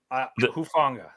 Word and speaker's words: Hufanga: Hufanga.